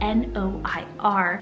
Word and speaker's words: noir: romantic sounds to it in france or any french-speaking country they'll pronounce it like noir with that kind of r rolling at the end super pretty but even